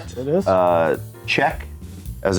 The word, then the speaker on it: Cieck: Uh Chec, as it's pronounced, is the producer.